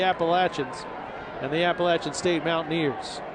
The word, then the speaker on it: Appalachian: One of the most mispronounced schools in the country. If you live in New York, they can be the Appalachians up there, but down here it's the Appalachians and the Appalachian State Mountaineers.